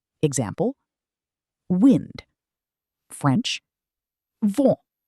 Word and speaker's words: vent: The N at the end of the word is not fully pronounced. Example, wind. French, vent. vent Let's practice this soft nasal sound.